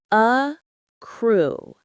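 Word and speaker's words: accrue: A crew. Acrew. The stress is on the second part. A crew.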